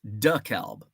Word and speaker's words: DeKalb: DeKalb the kelb uh how is DeKalb pronounced in Georgia is it DeKalb it's duckhalb in Illinois Illinois has some wacky